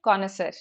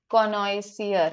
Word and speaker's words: connoisseur: student who tells me the correct spelling of connoisseur. Chivalry just means, yes, being respectful towards, the other gender. Just a second. Mm. Can you hear me? All right, yes, you can hear me. ठीक है. Connoisseur.